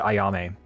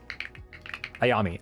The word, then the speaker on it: Ayami: Um, and mainly he wanted to give these one of these to Ayame. Um, I'm saying her name wrong. Um, Ayami.